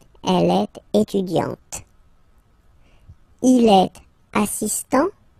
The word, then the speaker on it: assistant: Il est assistant, so don't pronounce the final T here, but for the feminine form, elle est assistante.